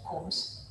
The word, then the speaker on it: Coombs: Si scrive Coombs, si legge Coombs, il test di Coombs diretto.